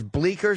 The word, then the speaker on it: Bleecker: B L E E C K E R .com. Well, maybe the fucking Bleecker Street. Bleecker. The C is silent.